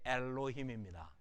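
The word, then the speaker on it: אֱלֹהִים: 이게 엘로힘입니다. 몇 음절 단어일까요? 엘로힘 3음절이 아니고요. 쉐바는 음절 구성을 못합니다. 모음이 아니니까 발음만 하라고 편하게 붙여준 거예요.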